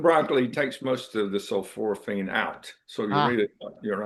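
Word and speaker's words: sulforaphane: Uh, of course we just talked about um uh sulforophane. That's how they pronounce that.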